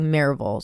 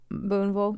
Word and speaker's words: Booneville: drive-through worker in Booneville a lot of people do say it like marville so it's like Booneville Booneville Mississippi which is a town